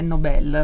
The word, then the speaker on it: Nobel: E lì c'è scritto che è Nobel, la pronuncia più corretta.